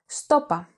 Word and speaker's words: Σου το είπα: This can also be pronounced stopa, with the pronoun σου and the verb form είπα contracted. To further complement this variety,